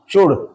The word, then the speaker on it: should: एस एच ओ यू एल डी शुड। बहुत से अंग्रेजी की स्पेलिंग जो है एल देखकर यहां पर शुड बोल देते हैं। नहीं शुड ठीक नहीं है। इसकी उच्चारण क्या होता है?